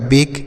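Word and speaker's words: bake: लिखेंगे एक की मात्रा जैसे बी से हो गया ब और की से हो गया क और ए से लिखेंगे ए की मात्रा क्यों लिखेंगे सर क्योंकि यहां पर ए के बाद एक अक्षर को छोड़कर ई है तो ये हो गया बक बी ए के ई बेक हो गया इसे बा के नहीं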